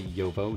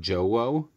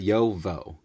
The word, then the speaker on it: JoWo: waim and Wulf gang so even though it's j wo it's not Joe it's yo for yakim the yo and um in German